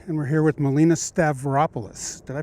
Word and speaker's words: Stavropoulos: Palo Alto weekly and we're here with Melina stavropoulos did I pronounce that right yeah you did oh good